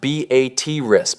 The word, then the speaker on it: Beatrice: Beatrice, pronounced B A T Riss by locals, not like the name was a regional hub for much of the 20th century.